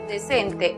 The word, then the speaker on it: decent: La siguiente sílaba, cent, es cerrada porque termina en consonante. Entonces, aplicamos el sonido cerrado de la vocal e, es decir, e igual que en español. La pronunciación para la palabra decente en inglés es decent.